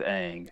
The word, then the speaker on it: Aang: I found Meng really funny also in her and Aang's interactions or lack thereof. Like her first interaction with him was like, "What's your name, Aang? Oh, that rhymes with Meng.